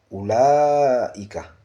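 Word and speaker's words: أولئك: On ne dit pas ulaika, c'est pas ulaika, non, mais c'est ulaika. On prononce le ou sans allongement. Ulaika. Donc, c'est ce qui est dit ici. Ce mot est prononcé ulaika, sans allongement.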